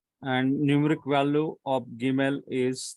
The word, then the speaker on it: Gimel: Now, if you see here, Gimel, it gives a G sound in got. A G sound in got. So the sound here it is G. And numeric value of Gimel is 3.